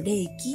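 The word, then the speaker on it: 霊気: はなんだろう幽霊の霊に気持ちの木って書いてあのレキって読むんですけど元々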